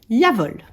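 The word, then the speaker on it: Jawohl: à moi donc voilà ça se prononce yavol et figurez-vous qu'en fait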